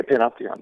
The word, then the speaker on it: panopticon: And I love the word you use, because I've never heard of this before, but the panopticon, is that how you say it? Yeah, panopticon, yeah.